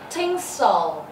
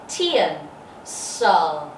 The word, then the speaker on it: tinsel: Tinsel. Tinsel. Mọi người nhìn phiên âm nhé. Tin. Tin. T và âm N. Tin. Sel. Sel. Nhớ âm tiết số 1, hạ âm tiết số 2.